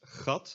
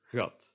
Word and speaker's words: gat: In Dutch, this is never pronounced as the G in great or in giant, except for in English loanwords such as goal. If it is in the Dutch word, it is always pronounced as either G or J. So these words would be pronounced gat or gat.